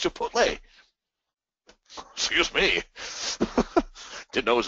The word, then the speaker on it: Chipotle: always heard it pronounced Chipotle and I never looked at it that close and it's Chipotle it's TL not LT I never even looked